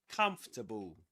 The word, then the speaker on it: comfortable: Comfortable. Comfortable. Okay. Three syllables in both.